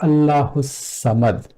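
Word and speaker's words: ٱللَّهُ ٱلصَّمَدُ: And lam is also not pronounced because of swad being sun letter rather than the moon letter. From this ha, we go straight to swad. So Allahu samad.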